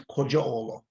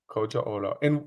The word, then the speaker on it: Kocaoglu: All right, my name is pronounced. Oak as in tree, tie as in tie. My last name is Kocaoglu. Kocaoglu.